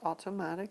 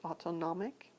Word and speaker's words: autonomic: called the autonomic nervous system not automatic but autonomic and it has two